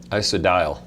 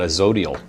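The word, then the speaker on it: Isodiol: Isodial. That's the way the gentleman who started it said it. So I didn't know. I used to call it a zodial.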